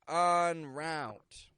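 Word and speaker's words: en route: onword is the words on Route on route now these are actually two words but they're spoken together on Route is probably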